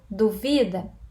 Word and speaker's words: duvida: Qual é a sílaba tônica da segunda palavra? Penúltima. Então, eu tenho duvida.